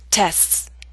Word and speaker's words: tests: to pronounce that's why in fast speech we leave out the T sound listen closely and try to repeat after me excepts acts lifts rests tests in the final two